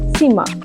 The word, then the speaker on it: simmer: সিমা, SIMMER হয়, কিন্তু আমরা এখানে যেটা প্রোনাউন্সিয়েশন করবো সেটা হলো সিমা, মানে আস্তে আস্তে রান্না করা।